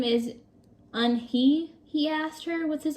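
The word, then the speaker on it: Unhei: "Yes, it's pronounced Yoon-hai, and it means grace," Mr. Kim added. "Yoon-hai," Joey said slowly, and this time perfectly.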